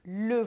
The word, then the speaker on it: le: Le voici e les voici. Percebeu? Pronuncie você também le voici, com som do biquinho E, le, e les voici, les.